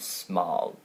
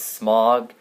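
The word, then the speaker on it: Smaug: in our heads when we read the book it was smog I don't know SM I don't yeah I don't know anyone who pronounced it smow but I guess Peter Jackson thought you should pronounce it smile cuz I thought the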